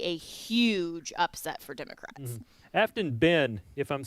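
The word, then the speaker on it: Aftyn: AFT YN. Afton.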